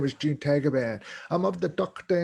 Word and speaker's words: Tagaban: And my last name is Tagaban, and it's pronounced Tagaban in the Philippines.